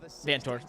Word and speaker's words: Vanthoor: I'm sorry, how do you pronounce his name? Vanthoor, you're right.